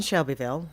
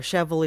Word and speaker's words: Shelbyville: But I grew up in Shelbyville, or Chevel if you're from there and can mispronounce it.